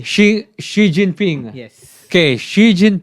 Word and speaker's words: Xi: no look at me last name is um she she spell it s x i n g right no she you said she and then you said Shing h no king is that's how you no she x i she x i what then